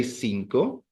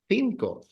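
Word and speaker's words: cinco: the two sounds but if you're in in in in in Barcelona you don't say sinko you'll say thinko thinko thinko and this this beverage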